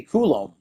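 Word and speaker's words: Coulombe: So So I got the So it's Danny Koul. Okay. Koulom. Danny Koul then. Sorry, Danny. Forget your name wrong.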